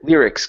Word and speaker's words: lyrics: is the word lyrics instead of Ls L lyrics give me a good R lyrics all right